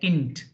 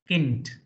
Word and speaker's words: Kind: n d in fact D at the end is pronounced like T so here k i n d should be pronounced like Kint Kint Kint k i n d